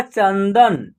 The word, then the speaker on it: चंदन: video में आप देखिए च उसके बाद अन की मात्रा यहां परन का उच्चारण होगा चंद दन क्या होगा चंदन चंचल देखिए च में